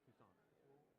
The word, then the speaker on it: Toussaint: If we're pronouncing it like we're French, it's Toussaint.